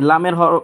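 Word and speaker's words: لام: যেমন এটার নাম উচ্চারণ করে আমি শোনাচ্ছি এভাবে উচ্চারণ করবেন কাফ কাফ তিন আলিফ করে টানবেন এই হরফটার নাম হচ্ছে লাম এই লামের মাখরা হচ্ছে জিহ্বার আগার কিনারা সামনের দাঁতের মাড়ির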